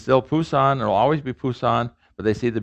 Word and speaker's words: Busan: so it's written j-e-j-u so the new romanization will look at busan the old city of busan busan busan how's it sound to